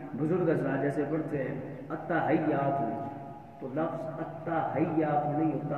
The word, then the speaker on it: التحیات: تو آگے ہم بزرگ حضرات جیسے پڑھتے ہیں التحیات، تو لفظ التحیات نہیں ہوتا، التحیات، حیات ہا کے کسرہ کے ساتھ اور یا کی تشدید کے ساتھ.